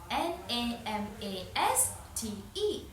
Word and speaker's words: namaste: N a m a s t e, namaste.